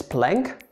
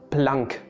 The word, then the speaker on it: Planck: dong max carl ernst ludwig blanc so don't pronounce his name as planck most people just say blank constant for example